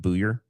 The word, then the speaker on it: Buyer: It's spelled Buyer, but it's Steve Buyer.